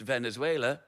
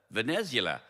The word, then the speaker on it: Venezuela: I had a geography teacher who pronounced Venezuela Vanzula. That's I think that on its own says something about the level of education I received.